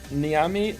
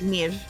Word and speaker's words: Neve: It's like Neve. It's like Neve. Who's Niami though? That's the person who resubbed is called Neve is tired, and you pronounce it Niam, and that's it's Neve is tired. Yeah.